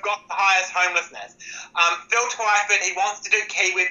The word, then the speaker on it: Twyford: Is Phil Tyford doing a good job there for you guys? I love it how you pronounce that. Phil Twyford.